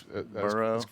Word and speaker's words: Burrow: I pronounced everything well there. That's Burrow.